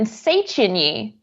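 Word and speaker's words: Széchenyi: Liberty, Elizabeth, Margaret, and Seychiny are 4 of the 7 main bridges belonging to what city? Seychiny is spelled SZECHENYI.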